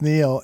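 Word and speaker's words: Niel: yeah basically it was neil n-i-e-l but it's pronounced neil and uh stop chinsky is uh the pronunciation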